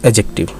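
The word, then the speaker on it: adjective: हो वरना साइलेंट व्वे अज एक्टिव में डी साइलेंट यानि एडजेक्टिव ज्यादा एप्रोप्रियेट होता है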